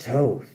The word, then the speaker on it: Thoth: Pronounced Thoth.